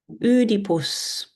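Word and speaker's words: Οἰδίπους: Her father in ancient Greek is udipus.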